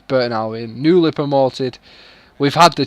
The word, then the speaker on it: Burton Albion: I didn't say it like that badly, but yeah, it's Burton Albion.